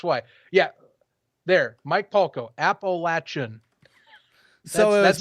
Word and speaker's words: Appalachian: It is Appalachian State, right? Tell me if I'm right or wrong, because now I'm just... Appalachian is what I pronounce it I'm as. curious. I don't know. Maybe, well, this is different regions of the And world.